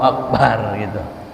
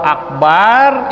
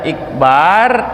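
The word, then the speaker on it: أكبر: kayak Akbar ya karena kalau Akbar itu baknya panjang namanya gendang dia gendang yang besar Akbar atau sama saja hamzahnya kita kasrahkan Bika sril Hamzah kalau pakai kasrah hamzahnya Allahu akbar umpamanya dibacanya begitu kalau dia baca begitu dia baca Iqbar itu merupakan Ismun Min Asma ilhadi satu nama daripada nama-nama istilah air menstruasi Ikbar itu nama haid jadi nama haid banyak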